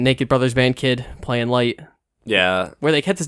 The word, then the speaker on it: Light: And no, it's pronounced Light, and it's it's a weird thing that they would have it be I don't know.